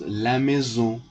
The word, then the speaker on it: maison: Maison. Maison means house. It is also feminine, so you must put la, and it is pronounced la maison.